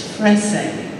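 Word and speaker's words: Fresé: So my name rhymes with essay. It's Frese.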